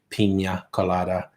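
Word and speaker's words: piña colada: say pina colada and that spanish speaking prayer said no that's just how it's pronounced you're not a wanker if you say pina colada it's the proper way to say it oh yeah kirsten any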